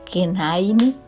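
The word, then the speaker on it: כנעני: El cananeo en hebreo se pronuncia Kenaini, que habitaba en Sefat,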